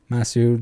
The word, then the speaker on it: masu: same as in english if you read something like masu phonetically masu the u at the end is hardly ever pronounced before i start the